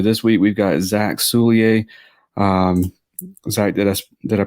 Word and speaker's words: Soulliere: So this week we've got Zack Soulliere. Zack, did I pronounce that right?